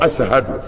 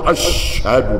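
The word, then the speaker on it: أشهد: misiri wele kan a b'a fɔ de ko asahadu a t'a fɔ ashadu dɛ ko asahadu parce que ale ye farafin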